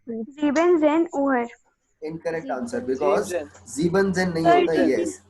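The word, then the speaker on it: siebzehn: सर 17 को क्या बोलेंगे, एक बार प्रोनाउंस करिए तो. Siebzen.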